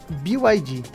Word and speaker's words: BYD: Qual é a pronúncia correta? BYD.